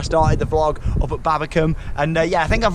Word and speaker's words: Babbacombe: the vlog up at Babbacombe, and yeah, I think I've learned how to say it now. Definitely Babbacombe, not Babbacombe.